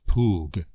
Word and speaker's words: PWG: plain wavefront generator or pwg pronounced pug it takes an ordinary